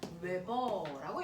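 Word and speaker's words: weber: 자기 선속이라고 부르고 단위는 웨버라고 읽어요.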